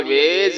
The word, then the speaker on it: vase: तो V वाव की आवाज देगा, A बढ़िया की आवाज देगा, S यहाँ पर जे की आवाज देगा और E आखिर में है तो ये साइलेंट रहेगा।